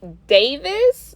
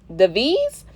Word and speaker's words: Davies: this up hold on jeremy davis not davis davies jeremy the v's i hope